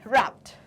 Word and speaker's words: wrapped: रैप्ड की spelling होती है WRAPED, wrapped। yes, okay, so wrapped सुनने में तो सही लग रही है, बट करेक्ट स्पेलिंग ये होती है बिकॉज W जो है वो क्या है, साइलेंट लेटर है।